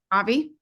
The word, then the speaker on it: Avi: Does anyone know how you pronounce his name? Avi? Avi.